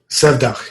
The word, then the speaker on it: Sevdah: And then, is it Sevda? Sevdah, yeah.